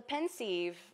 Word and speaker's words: Pensieve: So it's a homonym of pensive, to be thoughtful, to be thinking, and then it's also a pun on a sieve, SEIVE.